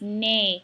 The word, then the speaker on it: nez: Don't pronounce the Z, it's nez, like nasal.